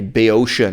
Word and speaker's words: Boeotia: So, the difference between an Athenian accent and a Boeotian accent, this is the British pronunciation of Boeotia, but like the next